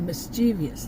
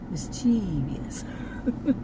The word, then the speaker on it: mischievous: different doctor's offices, but she was like the mischievous type. Mischievous. I used to pronounce it that way, but mischievous type.